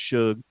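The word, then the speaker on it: Shough: His name is pronounced Shug. Tyler Shug from Texas Tech, who is pretty decent. Is it Suge?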